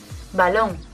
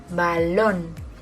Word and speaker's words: balón: tiene el golpe de voz en la tercera sílaba. 1, 2 y 3. Cámara. Árbol. 1 y 2. Árbol. Balón. 1. Balón.